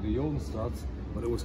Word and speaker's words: Jodenstraat: And I always found this fascinating because you have a street name that's called the Jodenstraat. That's how it would be pronounced in Flemish.